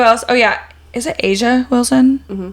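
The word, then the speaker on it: A'ja: Is it Asia Wilson? Mm-hmm. Why does it always sound wrong when I say it? Well, it just doesn't look like it's spelled like that. Well, Asia Wilson.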